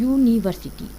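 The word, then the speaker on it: university: यूनिवर्सिटी, Y double O का आवाज़ निकल रहा है, ना कि यू का आवाज़ निकल रहा है।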